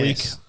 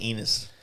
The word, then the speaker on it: Ennis: Ennis. I'm Ennis. saying Enos. Sounds like anus.